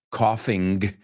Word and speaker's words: coughing: Coughing, pronunciado como un americano, no pronunciamos la G, so suena igual.